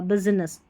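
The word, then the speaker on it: business: लिखते वक्त बिजनेस बिजनेस यानी इस आई का सही तरीके से उच्चारण आपको सुनाई नहीं देगा बिजनेस बिजनेस ऐसे बिजनेस और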